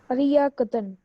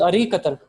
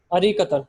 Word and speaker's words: أريكة: What's the correct pronunciation of sofa? أرياكة. No, it is Arikatan. Pay attention, Zahan. أريكة.